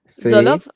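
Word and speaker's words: Tsolov: F2 a Nicola eh Solov, es que se pronuncia. Zolov, sí.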